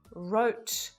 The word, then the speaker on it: wrote: So the letter W is always silent when it's at the start of the word and in front of the letter R, like in right, wrote, wrist, wrong.